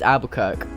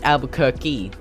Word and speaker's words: Albuquerque: Apparently, it's I always pronounce that place as Albuquerque, but apparently it's Albuquerque. Why is it Albuquerque? Like, there's no K-E-Y on the end of it.